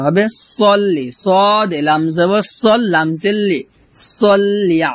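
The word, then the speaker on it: صلِّ: আল্লাহুম্মা হুমমা এখনো গুণনা করবেন আল্লাহুম্মা এভাবে পড়বেন না পড়বেন আল্লাহুম্মা আবার আল্লাহুম্মা সাল্লি আলা এখানে সাল্লি আলা হবে না হবে সল্লি সদ লাম জবর সলামজলি সাল্লি আলা আলা আলা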